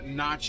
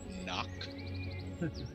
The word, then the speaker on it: nock: up his bow and Notch and arrow um actually it's pronounced knock fair enough um we'll